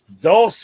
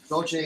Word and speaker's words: Dolce: Dulce Gabbana. Dolce.